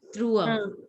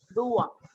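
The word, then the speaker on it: trois: It's Trua. T. Tua. One person, please. Devi, can you pronounce? Dua. It is not D, it is T. So it has to be pronounced as Tua.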